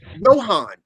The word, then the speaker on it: Johann: It's pronounced and originally Johann.